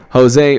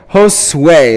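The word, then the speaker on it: Josué: So now it is Jose Pantino. No, look at the way his name's spelled. Josue. That's how it's pronounced.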